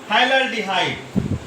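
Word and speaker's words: phthalaldehyde: PH silent है, pH silent है, तो इसे हम बोलते हैं थैलल्डिहाइड।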